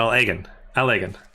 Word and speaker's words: Allagan: Oh, so I should say it in one thing without pauses, like the separate words. So Allagan, like that. More like that, Allagan.